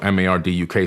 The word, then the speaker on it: Marduk: Marduk, he's known as Marduk in the Bible, M-A-R-D-U-K. Some people say Marduk, depending on how you want to pronounce his name.